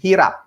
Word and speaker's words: hirap: He says that this language contains a big number of words that pronounce the H sound, without which those words would mean differently.